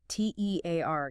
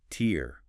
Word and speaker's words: tear: T E A R gives us tear rhyming with here or fear. That's the noun, the drop of water from your eye when you cry. versus tear rhyming with hair or bear.